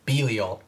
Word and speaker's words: Belial: that dictionary pronunciation and the dictionary pronunciation based off of like multiple dictionaries is biliol yeah belial like b b double e b yeah lee like l e e yeah oh like ul or something people are like no